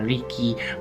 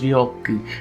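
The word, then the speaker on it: 力: that it means power, even though you pronounce it as riki, or I think the other one's ryoku if you just want to take the kanji alone, but that doesn't mean anything by itself really.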